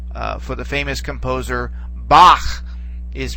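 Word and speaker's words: Bach: for the famous composer Bak is pronounced in German the CH there at the end all right that that's uh it's more of a guttural sound okay but it basically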